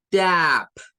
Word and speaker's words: tap: La siguiente, tap, tap. No es tap, es tap, tap. Ay, ay. Hay que bajar y subir.